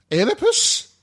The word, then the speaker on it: Oedipus: Is it It's Oedipus. Oh, I've been pronouncing It's it Oedipus. E, not O, dear. I thought it was O. It's E.